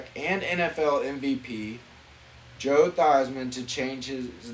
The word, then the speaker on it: Theismann: so nfl mvp joe theismann was convinced to change the pronunciation of his name from thiesman to theisman because it sounds like heisman bro and then he finished